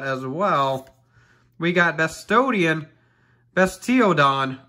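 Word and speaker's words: Bastiodon: well we got bestodian bestio don is the correct way to say it but we say whatever we want the bastodeon so we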